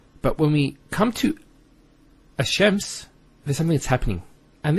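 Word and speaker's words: الشَّمْس: And because they're very close, what happens is this lam is not pronounced. And what happens instead is the lam is pronounced as a sheen. So there's actually a shadda here. So it's Ash-Shams not al-shams. Because notice when you say al-shams, it's not smooth. Rather than ash-shams, which flows and is nicer to hear.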